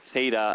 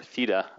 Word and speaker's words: theta: equation y equals theta theta as you Americans say or theta as we Greeks a theta 0 minus